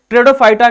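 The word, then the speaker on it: Pteridophyta: किस नाम से जानेंगे दादा, लिखना तीसरे को हम ट्रेडोफाइटा, टेरिडोफाइटा के नाम से जानते हैं, जिसमें पी क्या होता है, साइलेंट होता है, राइट।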